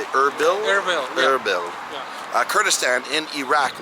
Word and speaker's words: Erbil: Erbil, yeah.